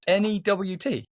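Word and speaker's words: Nhut: N-E-W-T. No, his is like N-H-U-T. Wow. Okay. Actually pronounced Newt.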